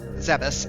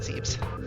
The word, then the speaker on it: Zebes: Zeus actually is the correct pronunciation. I don't know why I'm calling it Zebes.